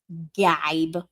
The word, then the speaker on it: gibe: I don't know why they don't just spell it as jibe, because that's how it's spelled. Gibe.